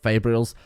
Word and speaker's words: Fabrials: The guy in the video I watched pronounced it Fabrials.